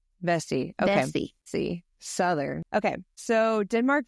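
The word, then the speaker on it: Vesey: name I don't want to say it wrong vessie vessie okay Southern okay so Denmark vessie a former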